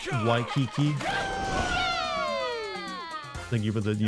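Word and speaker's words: Waikiki: what people go there W Kiki you say it like Why Kiki thank you for the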